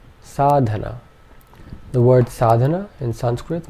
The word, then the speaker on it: sadhana: one last example sadhana all three vowel sounds in this are short so our three syllables